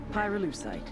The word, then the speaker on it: pyrolucite: Pyrolucite key syllable pyro by the way is the they mine in Via Verde province to turn cocoa leaves into highquality cocaine.